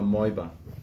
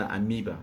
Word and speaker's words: amoeba: They call him a moiba. The actual English word is amoeba. That's how it's pronounced.